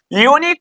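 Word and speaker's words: unique: क्योंकि हमने सीख लिया यूनिक को उर्दू में लिखेंगे क्या ये अलिफ से स्टार्ट होगा नहीं आइन से होगा नहीं फिर किससे सर ये से मगर यहां पे अगर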